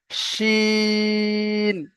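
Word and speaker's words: شين: বাঁশ, যেমন ভাবে বলছি, তো এই উচ্চারণটা এখানে হবে শিন।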